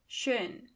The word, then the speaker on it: schön: In German, it means schön. Try to ignore the A in the end. We are going to come back to this soon. For now, beautiful means schön.